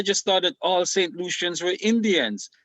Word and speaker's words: Lucian: Lucians were Indians. and Lucian kind of rhyme with Indians, kind of, right?